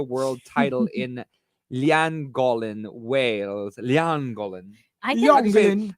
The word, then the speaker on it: Llangollen: Llangollen. I Young can... Glen. How do you say it? Llangollen. Langolin.